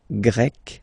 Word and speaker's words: Grec: So you get the country, la Grèce, and then you get Grec, masculine form, Grec, feminine form. You write them differently, but then, if you listen carefully, Grec, you pronounce them the same way.